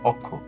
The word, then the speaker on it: অক্ষ: যেমন এখানে অক্ষ শব্দের শুরুতে অ আছে অ এর পরে যেহেতু খিয় আছে এইজন্য অ টা অ এর মত উচ্চারণ হচ্ছে অক্ষ।